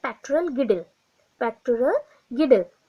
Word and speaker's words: girdle: उसके बाद देखिए लिम्ब गडल डिस्ट्रोफी, गिडल बोल सकते हैं स्पेलिंग के अकॉर्डिंग, और लिम्ब गडल बोलते हैं, GIRDLE।